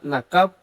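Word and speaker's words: נָקַב: cuando se profiere una maldición, o la palabra maldíganla, en el hebreo se pronuncia nakab, está en el hebreo 53:44.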